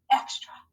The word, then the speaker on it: extra: a schwa sound so in this word the a is not saying the regular open syllable a sound it's saying the schwa sound ah so this is our